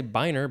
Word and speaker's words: biner: now we have uh i was gonna say biner but it's b-i-n-e-r it is a noun from